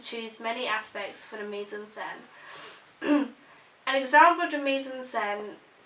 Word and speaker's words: mise-en-scène: go on to choose many aspects for the mise-en-scène.